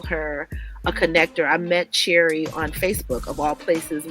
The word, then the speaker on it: Cherrie: And just a reminder, the C is soft, so it's Cherrie.